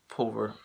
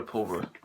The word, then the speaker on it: Pulver: that stars frank grillo as roy pover i think that's how you pronounce the guy's last name yeah it's roy pulver and uh roy pulver